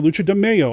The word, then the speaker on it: Lucha de Mayo: typically do lucha demayo i did it again lucha demaio i didn't do it on purpose man i've been saying it right for over a year and then somebody called me out on it and accused me of saying it wrong and even though i didn't it's lucha de mayo okay lucha demaio happens